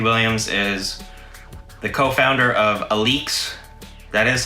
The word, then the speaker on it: Alyx: don't know matthew williams is the co-founder of aleks that is how you pronounce it it's not alex it's a leaks he's also the creative director for javanchi or